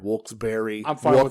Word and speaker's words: Wilkes-Barre: names Wilkes and Barry it is technically pronounced Berry I say Wilkes-Barre I